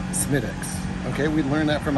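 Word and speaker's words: Smithwick's: definitely that counts honey it looks like smithwicks but it's pronounced smittix okay we learned that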